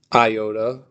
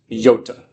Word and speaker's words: iota: Um the next one is not pronounced iota. It's pronounced yota as in as in little green yod.